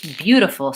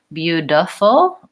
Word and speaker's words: beautiful: the D sound and I think maybe you're asking about that T and beautiful about whether we really do that as a D or as a flap which I think we